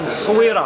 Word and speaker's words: Essaouira: You should pronounce it as Moroccan. Essaouira.